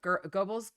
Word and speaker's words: Goebbels: uh minister uh joseph goebbels goggles goebbels i've heard pronounced like with an r sort of in it too but um he used